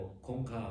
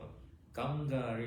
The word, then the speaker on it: คงคา: ออก กัง กรีเวิร์ เ ถ้า เป็น คน ไทย บอก คง ข่า คง ข่า ถ้า ไป ถาม คน อินเดีย อาจ จะ งง ได้ ครับ แต่ ไม่ แน่ ใจ นะ คน ไทย ไป บ่อย คน นี้ อาจ จะ เข้า ใจ กัน แล้ว เออ คน ไทย เ เรียก เฟี้ยน ไป นะ ที่ จริง มัน ต้อง ออก เสียง ว่า กังกา อ่ะ ที นี้ แหม อธิบาย